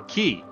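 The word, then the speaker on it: quay: a k yeah k q a y it's pronounced K or key looks like it should be qu it does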